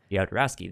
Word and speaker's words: Jodorowsky: Apparently, Alejandro Jodorowsky, I don't know how to say his last name. Jodorowsky, there we go.